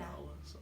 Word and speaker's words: Nahuatl: How you pronounce it? Nahuatl? Nawa? Yeah. Nawa.